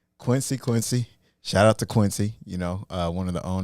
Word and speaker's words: Quincy: It's Quincy. Quincy.